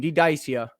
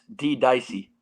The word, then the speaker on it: Ddicea: you get your name dedicia how'd you get your name did icia so look let me let me stop you right there it's pronounced dicey oh